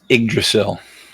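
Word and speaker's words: Yggdrasil: thing yes okay I didn't know how to pronounce that it's igdrasil I won't remember that but thank you it's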